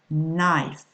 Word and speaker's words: knife: KN, MB, or WR, the K, the B, and the W are mute. That's to say you do not pronounce them. For example, no. Don't say no. Never, please. Okay? No. Knife.